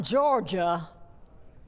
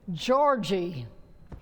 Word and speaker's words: Georgie: lost good you're great meet Georgie not Georgia Georgie my last name is